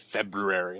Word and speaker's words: February: an adult man uh realizing that I've been saying February wrong. Um I was watching an episode of uh the Tonight Show with Conan O'Brien and he very intentionally pronounced it February and I'm like, "Oh yeah, that is Oh yeah, that is what it is.